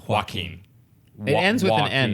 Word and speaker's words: Joaquin: Joaquin right Joaquin fear I always go Joaquin but it's just Joaquin it ends well and